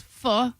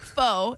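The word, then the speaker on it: phở: I can tell you one of the best fu places. That's how you say it. It's not faux, it's um one of the best places.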